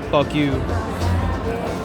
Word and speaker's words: FUKU: The restaurant I got my food from was called FUKU, so it'd be like fuck you.